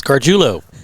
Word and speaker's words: Garguilo: It's Garguilo. Garguilo.